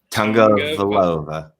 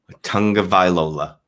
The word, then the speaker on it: Tagovailoa: I gotta go with Tagovailoa. Tagovailoa.